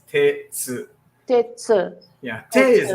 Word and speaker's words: Tetsu: Tsu is not a you. It's not an e. It's not an I. It's It's like an It's like a schwa kind.